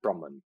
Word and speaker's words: Brahman: english so they would be you know enunciated differently it'd be brahma the deity and brahman would be the word for the totality of everything and so the the